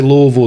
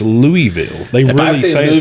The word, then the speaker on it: Louisville: do you pronounce it so there's there's two ways i would say louisville as well but if you talk to a lot of people from there it's louisville my daughter rips into